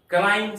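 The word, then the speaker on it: climb: यहां पर बी नहीं पढ़ेंगे थम बना अंगूठा क्लाइम सी एल आई एम बी क्लाइम यहां पर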